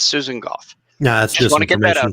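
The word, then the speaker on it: Gough: lot of people it's it rhymes with cough because she's a scottish descent so it's it's susan goff no that's just my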